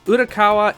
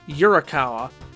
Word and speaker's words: Urakawa: worse than arino's name inouye is pronounced inui and urakawa is yurakawa that reminds me of